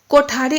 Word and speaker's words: कोठारी: आप देख रहे हैं कि कोठारी जब इसका उच्चारण किया जाता है तो कोठारी, हिंदी में इसको बोलते हैं कोठारी। इसमें ठ अक्षर आया, ठ।